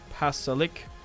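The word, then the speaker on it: Pašalić: Pasalic.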